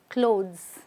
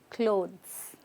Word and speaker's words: clothes: word clothes clothes if you notice the S sounds like a z clothes not clothes okay clothes say that with me clothes all right so make